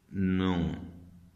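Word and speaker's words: know: आ जाते हैं, तो उनका पहला वर्ड ही साइलेंट होना शुरू हो जाता है। जैसे कि नो, नो होता है, जैसा कि PS, साइको होता है एक लफ्ज़, अब ये साइको है।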